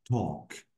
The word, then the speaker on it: talk: This L is silent.